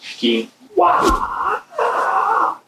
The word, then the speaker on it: quinoa: Then I have some quinoa, pronounced quinoa.